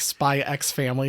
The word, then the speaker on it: Spy x Family: Kind of like Spy X Family. The X is supposed to be silent.